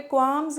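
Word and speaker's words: qualms: मेंटेंस टाइस नाउ क्वाम्स का मतलब क्या है? एल साइलेंट है यहां पे। क्वाम्स का मतलब होता है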